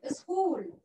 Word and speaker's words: school: We learn in a school, okay? School. Let's write the school. S, very good. S, K, K, K, K. CH. CH here is pronounced as K.